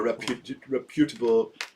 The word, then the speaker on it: reputable: So this is a reputable. Yeah. Is this a word? Yeah, reputable. Reputable. You just put the emphasis on the wrong syllable.